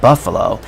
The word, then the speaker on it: Buffalo: That rhymes with Buffalo.